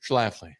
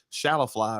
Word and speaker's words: Schlafly: is this called schlafly is that you pronounce it schlafly okay all right just making sure i didn't want to say it was like shallow fly or something stainless but that's sweet